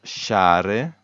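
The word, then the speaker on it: sciare: pronounced she but also s c i a you should remember is pronounced sha so here it's share share that is the infinitive form of the verb to ski so this one you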